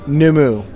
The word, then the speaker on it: Ngumu: say this right, the Ngumu jungle juice or the Takiti punch. They're all good solid drinks. Ngumu, is it? Numu. It's Yeah, whatever. The NG is the G is G is silent. silent. Numu.